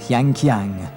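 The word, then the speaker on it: 香港: Hong Kong, pronounced in Chinese, Yanqiang, the fragrant port.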